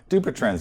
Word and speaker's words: Dupuytren's: Am I pronouncing it correctly? Dupuytren's, Do yes.